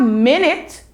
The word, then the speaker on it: minute: them yes you have minute as in 60 seconds make one minute and then you have minute which means very small let's look at another